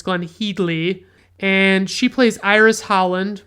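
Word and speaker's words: Glenne Headly: And then we have Glenn Heedley, which by the way is apparently how you pronounce her name. It's Glenn Heedley, and she plays Iris Holland, Mr.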